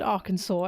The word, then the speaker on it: Arkansas: I don't think any person apart from an American or someone who was taught like learned that word would know it's pronounced Arkansas and not R Kansas Kansas.